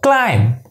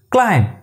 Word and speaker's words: climb: tomb next is climb it's your climb not b b is not there climb doubt doubt limb clear